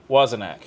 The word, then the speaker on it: Wozniak: Wozniak.